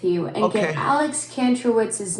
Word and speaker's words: Kantrowitz: Alex Kantrowitz.